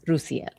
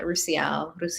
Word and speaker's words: Roosiel: I would say, is it Roosiel? Yes. Roosiel. Oh, you can say both. Just my name does not have a hard S. It's a soft S. Roosiel. Yeah, Roosiel.